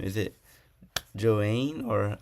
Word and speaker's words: Joainne: Is it Joane or how would I pronounce it? Uh, yes, it's Joane.